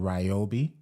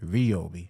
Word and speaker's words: Ryobi: Because, I'm into the Ryobi tools, but I was saying Ryobi, but it's pronounced Ryobi.